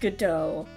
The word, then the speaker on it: Godot: I think it's pronounced Godot. I learned this while watching watching Half-Life VR AI Self-Aware Cast commentary, where they mentioned a book called Waiting for Godot, and it's spelled exactly like this, so I think it's Godot. The T is silent.